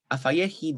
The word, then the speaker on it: afayehi: However, we also get penultimate stress in 11b, afayehi, despite the fact that afa has underlyingly present stress on the first syllable.